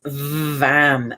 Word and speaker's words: vam: orange bright deep orange and the sound is vam v a m really pronounce the feel the vibration in your brain